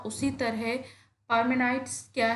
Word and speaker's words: Parmenides: जो name spelling है, इसको कई बार लोग परमेंडीज पढ़ते हैं, कई बार लोग पार्मेनाइडीज पढ़ते हैं, लेकिन जो सही प्रोनाउंसिएशन है, जो आपको सही जगह मिलेगा, ज़्यादातर लोग जो इस एजुकेटेड हैं, स्कॉलर्स हैं, वो इसको इस तरह से प्रोनाउंस करेंगे, परमेनाइट्स। आप इसको दो वर्ड्स में डिवाइड कर सकते हो, PARME, पार्मेनाइट्स, NIDES, पार्मेनाइट्स।